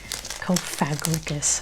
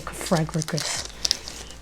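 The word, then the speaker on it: Cofagrigus: Kofagricus. I used to say Kofagus.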